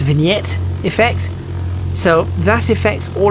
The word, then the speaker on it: vignette: caused by a lens so it's a it's pronounced vignette effects so that affects all around the lens